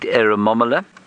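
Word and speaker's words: Eremomela: Well, if I wasn't reading it, I would have no idea how to spell it. E-R-E-M-O-M, Aramom. E-R-E-M-O-M-E-L-A. It's exactly as you say it.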